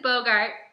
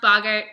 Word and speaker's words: Boggart: a crazy jerk so this is Bogart which I realized should be pronounced Boggart but it's my roommate's